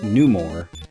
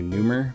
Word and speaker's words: Numor: His name is Numor. It's just being cut off. See? Numor. Although sometimes I pronounce it like rumor and say Numer, but I like it to be Numor.